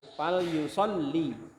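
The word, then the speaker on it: فَلْيُصَلِّ: Fal yusalli. Ya, lam yang kedua tasdid. Fal yusalli. Lam yang pertama sukun.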